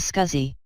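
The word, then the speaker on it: SCSI: we will talk on small computer system interface scuzzy where the pronunciation is scuzzy scuzzy is additional peripheral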